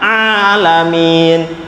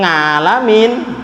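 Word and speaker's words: العالمين: halo ah ah padahal huruf A itu keluarnya dari tengah tenggorokan alamin bukan ngalamin bismillah bismillah Ini Mbak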